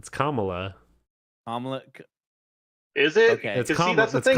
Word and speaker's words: Kamala: be it's it's like it's like the punctuation mark comma yeah it's comma yeah because I had heard